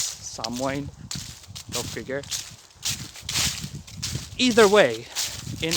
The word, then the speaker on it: Samhain: I always called it Samhain because H, but it's Samhain.